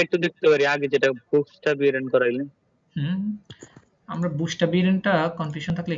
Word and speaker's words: Buchstabieren: বুকসটা বিরেন, হ্যাঁ, এখানে কিন্তু শ উচ্চারণ হচ্ছে, বুকসটা বিরেন। আপনারা যদি এখান থেকে শুনেন তাহলে ওইটাই দেখবেন। Buchstabieren. এই যে বুকসটা বিরেন, হ্যাঁ, Buchstabieren.